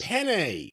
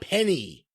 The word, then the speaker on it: penne: Penne, not penny.